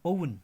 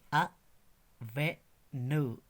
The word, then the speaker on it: oven: यह है OVEN. इसको हम आमतौर पर पढ़ते हैं ओवन, मगर राइट प्रोनाउंसिएशन इज अ वे न, अवन, अवन, अवन.